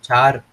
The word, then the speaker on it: char: you use that is the keyword air or char however you like to pronounce it's up to you i just say